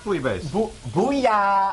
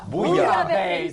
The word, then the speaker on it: bouillabaisse: Matt, how do you say it? Bouillabaisse. Bouillabaisse. That's how you say it. Yeah, bouillabaisse. What is a bouillabaisse?